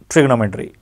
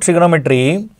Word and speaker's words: trigonometry: So this word trigonometry, T-R-I-G-O-N-O-M-E-T-R-Y, trigonometry. We should pronounce this as trigonometry, but not trigonometry, right?